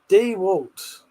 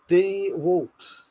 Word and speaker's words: DeWalt: With that said, I say Mackita and the Walts like a normal person. Dewalt. Dwalt.